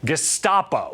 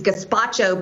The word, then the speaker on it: Gestapo: Representative Marjorie Taylor Greene for mispronouncing the word Gestapo, which admittedly was actually pretty funny. Pelosi's gazpacho police spying on members of Congress.